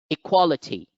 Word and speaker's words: equality: on towards the word equality equality equality here the second syllable has the stress mark so it is the